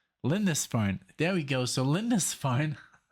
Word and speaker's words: Lindisfarne: I actually had to look up the pronunciation. So it's called Lindisfarne, and I did it this way. Let's see if this records itself. Lindisfarne. Lindisfarne.